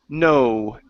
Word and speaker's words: know: Right here, the K is silent. Okay, so instead of saying knowing, the word is know.